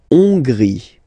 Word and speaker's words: Hongrie: La Hongrie. So remember, H doesn't exist, so you don't pronounce it. So it starts with O-N, on, and then gris, final E, not pronounced.